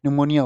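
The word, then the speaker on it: pneumonia: पी निमोनिया पी से spelling होती है। वैसे तो इसकी निमोनिया होता है।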